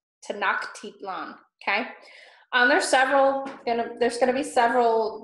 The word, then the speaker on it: Tenochtitlan: Tenochtitlan. Tenochtitlan, okay? There's gonna be several difficult names to pronounce because Spanish is none, I don't think it's any of our native language.